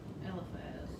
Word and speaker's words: Eliphaz: Yeah, Eliphaz.